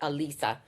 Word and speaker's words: Alisa: And they never said my name right. So I would always have to spell it phonetically, like Aleesa, to get it to say Alisa.